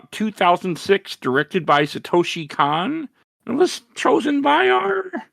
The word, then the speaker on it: Kon: I think it's pronounced Satoshi Kon. Oh, Kon. Either way, most people say Con.